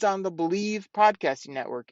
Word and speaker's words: Bleav: podcast it's on the believe podcasting Network it's with lions legendary safety Benny blades you got to check it out it's called bleav they pronounce that believe in Lions on the